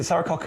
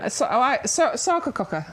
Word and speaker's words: Sarcococca: is it Saracocca? Is that how I pronounce that right? Sarcococca.